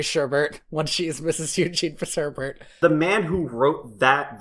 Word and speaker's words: Fitzherbert: Hey, did you know my last name rhymes with sherbet?